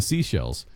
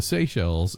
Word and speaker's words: Seychelles: But anyway, the Seychelles. which is Coconuts? No, I'm just yeah, it looks like Seychelles, but it's pronounced seashells.